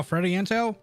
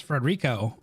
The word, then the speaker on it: Federico: Freddie Into? How do you say his name? I forgot. Federico. There's no K in there. How does it Federico? Oh, Federico. Yeah, it's Federico. Out.